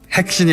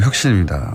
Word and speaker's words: 혁신: 핵신이 아니고 혁신입니다.